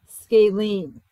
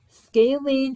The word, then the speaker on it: scalene: first here's a new vocab word this is pronounced scalene scalene triangles classified by sides are triangles that have